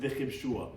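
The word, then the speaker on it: וכבשוה: We pronounce it v'chibshuha, but it's actually written without a vav to tell us that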